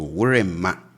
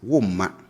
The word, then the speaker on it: worema: So worema, and you can say this, just that on the streets, we don't say it like this. We typically say this as woma, okay?